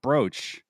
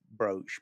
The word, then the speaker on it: brooch: Why is it spelled It's spel it's pronounced brooch but it's spelled B. Yeah. So some people do spell it B R O B R O A C H. Black is wrong. It is brooch.